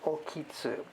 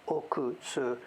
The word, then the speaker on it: Okitsu: back to okitsu now the kanji itself is oku but it seems that the place name is oki okitsu so i think in the in the video the other day i may have pronounced it wrong i pronounced it according to what you read oku but it's not the people down there pronounce it as oki okitsu whatever i'm not the